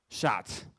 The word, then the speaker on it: Chartres: Chartres. Cathedral. Thank you. Okay, I didn't get a pronunciation in here.